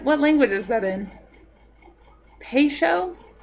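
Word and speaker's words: Peugeot: Um, sioot. Paoot. What? It's pronounced peso.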